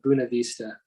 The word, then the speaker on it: Buena Vista: it's interesting i'm in buena vista colorado but apparently a lot of people up here call it buna vista i don't quite understand